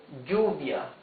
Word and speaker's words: lluvia: Double L has a sound G, right? Like lluvia, G, U, V, I, A.